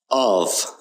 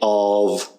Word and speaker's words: of: Of is clearly unaccented because you don't say of, you say of, and usually it's almost swallowed up in a phrase.